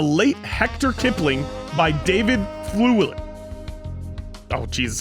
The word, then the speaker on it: Thewlis: This week's excerpt will be read by John and is from The Late Hector Kipling by David Thewlis.